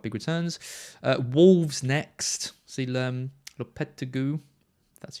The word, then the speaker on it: Lopetegui: See Lopetegui. That's how you pronounce it.